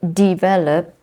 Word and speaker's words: develop: becomes development development so develop sorry develop the stress is in the second syllable develop but when it becomes